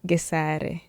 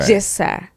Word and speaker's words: Gesare: most people butcher the name, and I understand because, say, the North Americans do not have the pronunciation Okay. in the English Okay. pronunciation. They don't have the so they cannot say so they say j. Okay. Jessa.